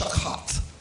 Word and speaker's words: shakath: It's pronounced shakath. Shakath.